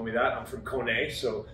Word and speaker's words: Kone: company so an easy way to remember how to say that is a cone like a traffic cone and uh what does a horse say there you go i